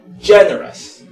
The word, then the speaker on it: generous: Entonces esta pronunciación es generous. Entonces tenemos nosotros la pronunciación de esta OUS como un solo sonido, y por eso esta palabra pasa a ser como que si fuera una palabra de 3 sílabas.